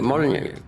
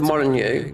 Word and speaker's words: Molyneux: That Peter Molyneux, which, like Molyneux, how it is pronounced, his name, it's like a French name, right?